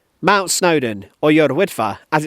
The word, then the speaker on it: Yr Wyddfa: Mount Snowden or Y wifa as it's known today without offending too many Welsh people with the pronunciation I'll stick to the English version of